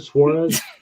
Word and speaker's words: Suarez: That's how you pronounce it, Suarez.